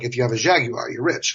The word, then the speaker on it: Jaguar: Jaguar. 3 syllables for those of you that call it a Jaguar.